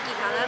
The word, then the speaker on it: Quijada: Most people have a hard time with my last name. It's Quijada, but pronounce it however you can.